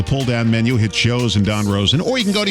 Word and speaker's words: Don Rosen: Not Dan Rosen, but Don Rosen.